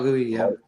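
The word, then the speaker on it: Guéhi: Mark Guhi from Crystal Palace. Did I pronounce that right? Did I get that right? Mm-hmm. Mark Guhi, yeah.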